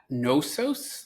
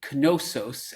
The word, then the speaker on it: Knossos: Is that Knossos, like as in knowledge, or no? It's actually Knossos, as in knish.